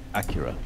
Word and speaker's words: Acura: just reviewed the new nsx how do you pronounce it acura oh yeah accurate yeah acura so they just released the new nsx which